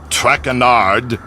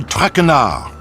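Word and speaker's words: Tracard: As for my name, not traard, it is Trackar.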